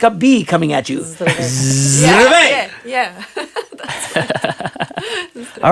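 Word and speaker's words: Здравей: Zdravej. Streve?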